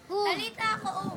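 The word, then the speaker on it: Talitha koum: ang sabi ng at ang sabi ni Jesus talit kaum talit kaum ang ibig sabihin no Greek word yun na ang ibig sabihin bata Bumangon ka talit ha koo Sino Mak pagpronounce Tala kaum talitha koom talitha koom ibig sabihin bata Bumangon ka at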